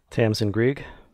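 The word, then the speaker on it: Tamsin Greig: I'm not going to pronounce her name because I don't know how to. Tamsin Grieg?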